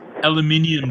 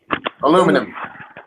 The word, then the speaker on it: aluminium: It's pronounced aluminium. Dober. Aluminum.